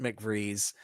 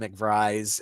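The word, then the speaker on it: McVries: There's Ray Garity and there's Pete McVrees. Uh although they kept calling him McVry and I it's spelled B R I S.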